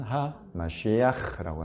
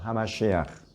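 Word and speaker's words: המשיח: 히브리어로는 메시아라고 하고 또 정확한 히브리어 발음은 하마시아흐라고 하죠. 하마시아흐.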